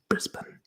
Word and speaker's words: Brisbane: Brisbane should be pronounced Brisbane.